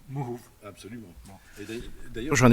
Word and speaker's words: Mouhoub: Alors moi, je vais le prononcer à la kabyle, pas à l'arabe. C'est pas le Mouhoub, c'est le Mouhoub.